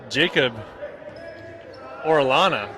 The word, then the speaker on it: Orana: actually tell you that it's Jacob Orana I've been saying it wrong this whole time so I got to